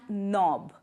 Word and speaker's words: knob: knee, not knife and knob. In all these words the K letter is silent. And the next option is we use silent W like right, wrap, wrist and wrong. Here W is silent.